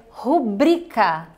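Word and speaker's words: rubricar: que acontece é que muitas pessoas é colocam o stress o assento a palavra mais forte como se fosse o ru falando rubricá e aí é que está o erro então a sílaba tônica silva forte fica no bre então a palavra correta é rubricá ok rubricá e não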